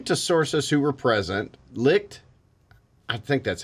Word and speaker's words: Licht: second paragraph according to sources who were present licked i think that's how you say it yes